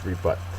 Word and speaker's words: rebut: is a verb uh second syllable is accented it means to offer